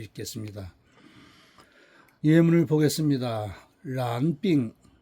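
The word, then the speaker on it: 染: 아, 발음은 란. 란. 요거는 이제 삼성으로 발음이 됩니다.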